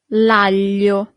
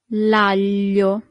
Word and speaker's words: l'aglio: Here we have this combination of letter that for foreigners is always a little bit hard to pronounce, sorry. It's G-L-I, L. That's the sound, L. And then at the beginning it's a little bit complicated.